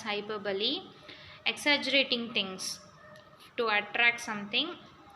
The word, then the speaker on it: hyperbole: Hyperbole, it is not hyperbole, we have to pronounce it as hyperbole.